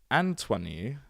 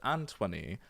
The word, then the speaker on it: Antoni: Antoni, like Anthony, but Antoni van Leeuwenhoek.